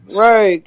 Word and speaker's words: Roeg: Is that Nicholas Rogue? Is that how you say it? Of course he is. What do you think? He's Nicholas Rodgy. Roggy. Roeg? Nicholas Roeg? Nicholas Rogue. Rogue. Yeah, the Rogue.